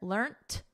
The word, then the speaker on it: learnt: So learnt is the preferred spelling and pronunciation in British English. In American English, which I teach, the preferred spelling and pronunciation is learned. So notice we have a soft T here, learnt. And then in American, learned with a soft D, learned.